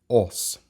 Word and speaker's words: Âs: of the video is OS so what happens is that the N disappears before the S because we are dealing with an ingvionic language and therefore that a